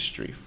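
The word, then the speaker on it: Strieff: up utah vs Strief most strife for hours pronounced st rief utah vs street and this deals with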